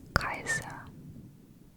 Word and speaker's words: Caesar: to hearing the scream there was no s sound for the letter C in ancient Roman Latin also the J was a y sound therefore gas Julius Caesar was actually pronounced gas ulius Kaiser his name is where